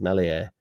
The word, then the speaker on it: Meslier: And then he said, I'm happy with Meslier, silent S. Granted, he pronounced his name right. He said Meslier.